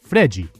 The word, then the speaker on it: Fred: In order to let Neymar thrive, Scolari recruited a yokel of a center forward named Fred to do all the dirty work up top. Brazilians pronounce it Fregi.